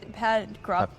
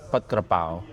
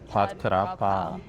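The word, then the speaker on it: ผัดกะเพรา: Would it be a pad grap? yeah, yeah. So, what Yeah, did I like say? it- It's pat krapao. Oh, Fall fell down. Pad Kra Pao. pat krapao.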